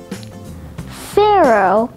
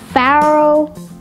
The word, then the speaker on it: Pharaoh: Pharaoh has two alternate pronunciations, Pharaoh, Pharaoh.